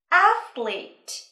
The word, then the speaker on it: athlete: Bạn chú ý trọng âm giờ vào âm tiết đầu tiên và chú ý âm ở giữa từ nha. Athlete.